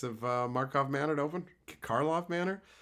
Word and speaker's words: Karlov: Talking to Carly about it, I would say Markov Manor. And she was like, it's Karlov Manor.